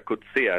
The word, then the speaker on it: Coetzee: Yo entrevisté a este señor, que se llama, se pronuncia Coetzee, es la pronunciación correcta, igual que el premio